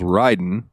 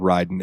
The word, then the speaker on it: Raiden: In the Sega Genesis version of Mortal Kombat, they spelled it Raiden like R-A-Y-Den in a couple of the games to help with the pronunciation.